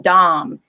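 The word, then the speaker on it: Daum: vase that none of us can pronounce properly pronounce it dom dom can you help educate us all on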